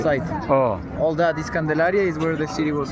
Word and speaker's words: Candelaria: How do you pronounce it? Candelaria.